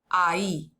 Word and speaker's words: ahí: And notice the H is silent, so it's a, I, ahí.